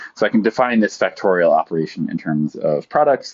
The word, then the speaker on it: factorial: It's by definition written n exclamation point, and it is called, or pronounced n factorial.